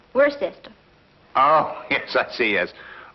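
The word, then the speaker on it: Worcester: Freddy calls it something else too doc but it's spelled w r c s t e r where sister oh yes I see yes Lord wer mhm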